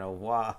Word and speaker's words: au revoir: There's no, you don't roll your R in au revoir.